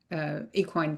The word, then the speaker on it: equine: But we really focus on healing trauma in those two ways: the brain rewiring and then the equine therapy.